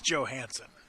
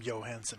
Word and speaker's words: Johansen: dakota so basically yeah it's joe hansen no one's ever called him johansen before i guess there's a